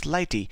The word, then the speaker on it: Lighttpd: Now, if we talk of what is Lighttpd, it is basically pronounced as Lighty, and it is regarded